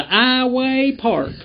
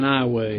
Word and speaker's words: Iowa Park: Where I say you'll know when you're there when the locals say, "Welcome to Eyeway Park." Because that's the way we talk.